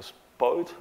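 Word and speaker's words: spout: They call that a spoit. That's the pronunciation in English.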